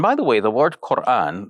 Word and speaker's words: Qur'an: And by the way, the word Quran, like we say it with a specific type of sharp turn in the middle of the word, Quran, which grammarians refer to as a glottal stop.